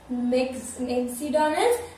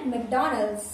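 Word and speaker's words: McDonald's: तो मैं बता देती हूँ ये मैकडॉनल्ड्स, आपको लग रहा होगा मैकडॉनल्ड्स मैक्सडॉनल्ड्स नहीं भाई इसका सही प्रोनाउंसिएशन है मैकडॉनल्ड्स मैकडॉनल्ड्स। अब आपने गेस किया तो आप खाइए, नहीं गेस किया फिर भी खाइए मुझे क्या।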